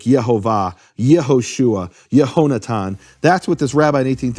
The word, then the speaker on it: Yehoshua: You can't have Yahoshua or Yahshua. It has to be Yehoshua.